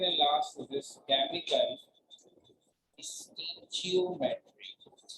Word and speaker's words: stoichiometry: एक हम कर चुके हैं molar energetic number and second and last is this chemical stoichiometry. First O is sign. बनता है pronunciation stoichiometry.